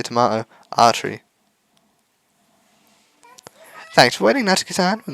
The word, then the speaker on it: Atri: it was AR whatever I'm still going to pronounce it arery because I do not have the tongue rolling Precision to to pronounce the r like that on the way home